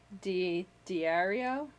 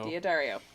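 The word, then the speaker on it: D'Addario: I put Diario? Diodario.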